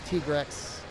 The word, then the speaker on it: Tigrex: Is it Tigrex or Tigrex? Don't get me started. It's Tigrex. Officially. Whatever you want to believe, though, is the way it's pronounced.